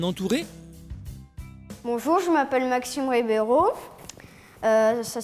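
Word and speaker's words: Ribeiro: battre sera-t-elle bien entourée bonjour je m'appelle Maxime ribbero ça s'écrit bah r i B e i r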